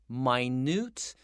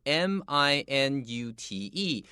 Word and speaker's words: minute: All right, let's look at these two words, minute and minute. Number one, they're spelled the same, so this makes it tricky. We know this is an adjective, so 这个 I 要长 I, my...And then we have newt, like the word moon.